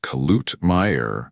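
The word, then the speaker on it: Kluetmeier: Mr. Klutmeier, pronounced Klutmeier, shot generations of American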